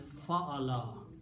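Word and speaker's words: فَعَلَ: And we pronounce the name as fa'ala. And when we write fa'ala, we write 3 fathas.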